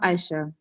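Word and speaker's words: Aishat: It's pronounced Aisha. Oh, Aisha. So the T is silent.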